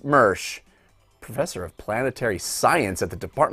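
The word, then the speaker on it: Moersch: Jeff Mersch, pronounced Mersch, professor of planetary science at the Department of Earth and Planetary Sciences at the University of Tennessee.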